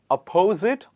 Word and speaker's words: opposite: We actually stress on the first part of the word, and that is here. A lot of people pronounce it by stressing on the second part, opposite. It is not opposite, it is opposite.